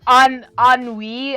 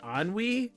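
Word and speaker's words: ennui: up what is any Katie look it up anwe I think it is oh anwe I'm sorry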